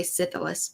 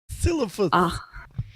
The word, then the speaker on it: Silithus: I always say Sithilus, but that's not how it's actually pronounced. Silithus.